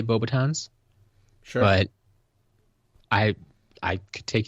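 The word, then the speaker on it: Beauxbatons: The S in Bobatons is silent. Okay. Never really thought about it. I guess I usually do say Bobatons, Sure.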